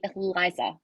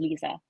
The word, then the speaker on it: Liza: she's gonna kill me she pronounces her name Lisa so you should cut that out Ronnie it is yeah you should definitely cut that out she's reminded me before it is Lisa and she blames uh